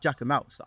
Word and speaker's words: Jacquemus: Apparently, it's pronounced Jacquemus.